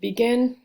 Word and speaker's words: begin: Begin. So begin. And so we know the stress is on the G-I-N, second syllable, and this is a consonant, vowel, consonant, last syllable.